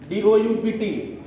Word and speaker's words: doubt: DOUBT, B silent होता है, DOUBT।